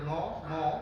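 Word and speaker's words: নমঃ: যেমন ন ম বিসর্গ, যেহেতু পেছনে বোর্ড নাই এভাবে একটু বলতেছি যে ন ম বিসর্গ উচ্চারণ করতে হবে নম, অর্থাৎ বিসর্গটাকে উচ্চারণ করতে হবে হ।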